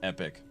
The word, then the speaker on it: Epoch: pronounced usually epic. It's actually true. Epoch is pronounced epic.